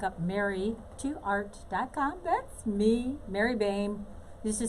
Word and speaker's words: Boehme: That's me, Mary Boehme. Used to say old lady, name, same, and Boehme. That's me. But it's spelled a little differently.